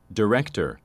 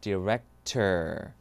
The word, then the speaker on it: director: 들어갑니다 자 한번 들어보시겠어요 director 이게 미국 10입니다 director 영국은 이겁니다 오케이 so 아를 아로 발음하고 R 발음은 탈락 그럼 마지막도 한번 예상해